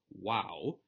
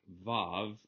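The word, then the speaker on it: waw: to the Hebrew letter wow and is pronounced wo it is not VAV or corresonding to V it is represented by an English letter W reminding us again that it's w not V ugaritic Zeta which corresponds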